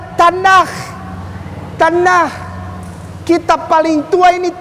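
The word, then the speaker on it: תנ״ך: Dibacanya Tanakh.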